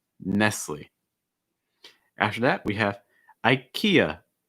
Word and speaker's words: IKEA: after that we have ikea ikea i think a big thing i see with students is the last syllable that a sound finishing with that schwa ikea ikea you want